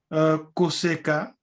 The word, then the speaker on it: koseka: Koseka. Okay. Ko is like in English to. Seka. Use the infinitive. And the root is seka.